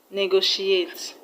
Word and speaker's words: negotiate: So the third level is on go is not the correct answer.